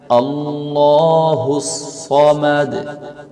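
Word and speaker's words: الصمد: আল্লাহুস সামাদ আল্লাহুস সামাদ এখানে হচ্ছে সদ সদের স্থানে আমরা অনেকে সিন ব্যবহার করি সদের স্থানে সিন পড়লে অর্থ পরিবর্তন হয়ে যাবে এজন্য সদের স্থানে একটু মোটা করে পড়তে হবে যেমন কুলহু ওয়াল্লাহু আহাদ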